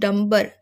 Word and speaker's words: Dunbar: C have William नंबर इनकी spelling है दी यू एन बी ए आर बट you have तू pronounce नंबर एन की जगह आपको एम उसे करना है है तो वह इस